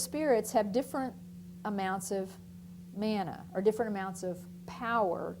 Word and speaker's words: mana: believed to possess something called Mana or mana and it's not like what you find in the Hebrew Bible that's spelled M N na a but this is with one n mana and what this is